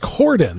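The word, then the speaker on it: Corydon: city kim gordon corden oh just cordon okay i saw y in there and it threw me off okay go ahead kim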